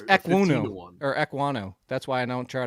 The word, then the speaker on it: Ekwonu: It's Ekwonu. That's why I don't try to pronounce this, because his name is Ikwem Ekwonu.